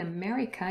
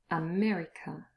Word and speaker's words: America: Here in America, you've got it the first and the last syllable. America.